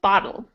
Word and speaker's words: bottle: I'm going to show you my mouth. You can Okay. see from my mouth as I say it that they're not the same. So we have battle and bottle. Battle, bottle. Bottle. So the vowel sound is what changes. The TL part stays the same, but the vowel sounds